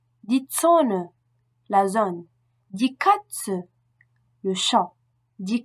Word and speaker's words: Katze: La prononciation de Z est TZ. Z, TZ. Le Z allemand et le TZ se prononcent de façon identique et correspondent à une attaque dure. Ts, TS. Ts. Comme la mouche TZ. Die Zone, la zone.